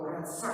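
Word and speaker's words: רצח: Nah cuma di Keluaran 20 ayat 13, jangan membunuh itu pakai kata raska atau ratsak bacanya. Jadi jangan membunuh, ratsak.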